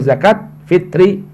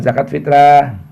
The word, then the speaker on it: zakat fitri: Yang penting ingat bacanya zakatul fitri atau zakat fitri, bukan zakat fitrah.